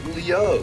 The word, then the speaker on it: Liu: to Liu Bay's side wait no it's it's not L it's Leo what are you my power alone pronouncing it because they say luk in the game Leo that's how they say l they say luu and L even though they're spelled differently dud it's it's get